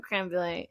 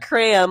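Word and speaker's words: crème brûlée: say it like Creme. creme brulee from the back of the throat. not cram, like cranberry.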